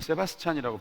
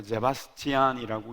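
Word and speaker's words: Sebastian: 저는 예전에 세바스찬이라고 배웠는데 요즘 사전에 보니까 제바스티안이라고 읽는 게 맞는가 보더라고요. 요한 세바스티안 바흐, 음악의 아버지.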